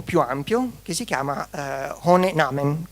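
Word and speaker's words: Ohne Namen: ampio che si chiama Hone Namen, non so come si pronunci. Sì, sì, è giusto, giusto. È tedesco.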